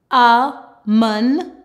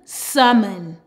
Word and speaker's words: salmon: Salmon, salmon. Or with some accent, they actually pronounce the L, salmon. So also keep this in mind.